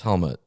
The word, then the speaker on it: Helmut: It's not helmet. It's Helmut. Helmut. Okay. I don't know if it's ut or ut. Is it spelled with a U-T? Yeah. Okay, well, how I'm guessing it would be, because it's German, I'm guessing. So it'd be Helmut, I'm guessing.